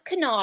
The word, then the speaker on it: Kanar: Cardassian alcoholic beverage, but the pronunciation here is Kanar, which differs from the later appearances, as I said, pronounced Kanar. Vean, which is it? It irritates me. It is Kanar.